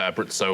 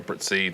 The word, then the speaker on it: Abruzzo: It's a great answer, Abruzzo or Abruzzi. There's various different pronunciations of it.